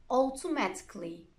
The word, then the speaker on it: automatically: the letter A, but if a word ends in ICA, double L, Y, most people don't pronounce it. Here are some examples. Try to copy them after me. Automatically, basically, logically, practically, surgically, romantically.